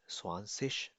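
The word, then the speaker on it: zwanzig: Pronunciation तो इसीलिए change हो जाती है बिकॉज अगर तो जी आखिर में है किसी भी जुमले के आई और जी तो इसको शीन से पढ़ा जाता है. जैसे स्वांसिश ना स्वांसिश.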